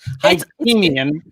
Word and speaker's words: Hakimian: I'm glad I didn't say because I had that wrong, and I didn't spell it out phonetically. Hakimian. Exactly. Hakimian.